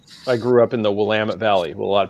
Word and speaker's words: Willamette: grew up in the willamette valley a lot of people call it willamette you see like we'll admit you know and you're like no that's that's not correct at all yeah it's kind of